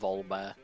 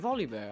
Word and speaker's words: Volibear: Please pronounce the R. You're killing me by saying Volbert. What is it? Volley. Oh, is it Volibear? I thought it was just Volbear. I thought the I was an L.